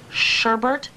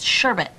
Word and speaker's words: sherbet: you ever noticed that people actually pronounce it sherbert but it's not you know it's sherbet no second are no second are one